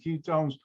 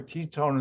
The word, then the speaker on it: ketone: the high ketone remember ketone is not spelled with a y even though it's pronounced that way all right nomenclature aldi